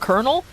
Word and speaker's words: colonel: Like, the word colonel? Colonel, like, annoys me. Yeah, because, like, it's technically pronounced colonel?